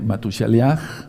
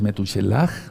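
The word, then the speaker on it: Metushelaj: De hecho, hay un hay un tema en este mismo canal eh que le titulé Matusaliaj, así le puse yo, es Metushuchelaj, realmente la pronunciación correcta.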